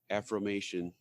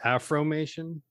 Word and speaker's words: affirmation: I think that brand further my affirmation. I don't know if I'm using that word right. Affirmation, yeah, not Afromation. Unless you're talking about Afro Nation. No, how do you say it? Affirmation.